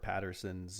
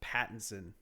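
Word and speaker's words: Pattinson: It reminds me of uh Robert Patterson's uh his name's not Patterson. Patson. There we go. Say it right.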